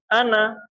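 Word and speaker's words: أنا: Contohnya lafaz ana. Nah, itu kalau di dalam rosemnya itu kelihatan ada alifnya. Seolah-olah itu dibaca panjang. Nah, padahal kalau secara pelafalan itu dibaca pen pendek gitu ya.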